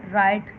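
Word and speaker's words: write: राइट, आर से आवाज़ आ रही है इसकी स्टार्टिंग की, तो डब्ल्यू साइलेंट।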